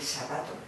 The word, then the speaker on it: zapato: ¿Le cuesta aprender que zapato se pronuncia con Z? No, porque además yo lo exagero mucho. Cuando yo lo exagero mucho digo, hay que sacar la lengua entre los dientes.